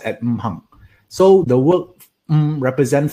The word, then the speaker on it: Wu Xing: It pronounced at Wu Xing.